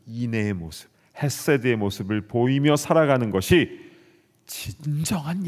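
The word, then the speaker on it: חֶסֶד: 발음이 조금 센데요, 헤세드 이렇게 발음을 해야 됩니다.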